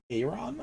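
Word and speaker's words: Aeran: i know but um i assume the first one's pronounced uh air ron or aeron i don't know which one a.a rom it's literally aaron like it's like aaron but air aaron and lythra no but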